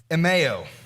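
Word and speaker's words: ἐμέω: The word is pronounced emeo.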